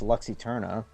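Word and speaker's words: Lux Æterna: looked at it, I'm like, how do you pronounce that? Obviously, it's Luxy Turna.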